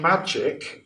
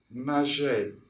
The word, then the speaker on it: Maciej: I've heard him called Magic, which I quite like, but I think the pronunciation is more like Maciej.